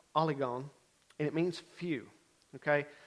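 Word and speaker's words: ὀλίγων: word that i think is important and it's pronounced oligon and it means few okay the niv picks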